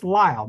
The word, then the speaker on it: Lyle: red noses 1932 and you hear blanch pacon pronounce her name and again it's Lyall not Lily Lyall there there's the proof Lyle rmes with